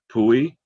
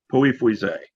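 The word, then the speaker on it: Pouilly-Fuissé: But I've been taught to say Pouilly, no pronunciation of the L's, and Fuisset.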